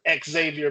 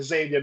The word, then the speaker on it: Xavier: So, but I thought Jordan was a little soft until he went at it with Xavier McDaniel or Xavier McDaniel. I don't know why people pronounce the X twice, but Xavier McDaniel, they got it.